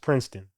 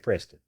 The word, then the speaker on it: Prinston: It's not spelled like the school, but it is pronounced Princeton, like the school. People be saying Preston.